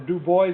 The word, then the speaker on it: DuBois: Pennsylvania right if you go to dupois Pennsylvania or Dubois as they pronounce it right you know one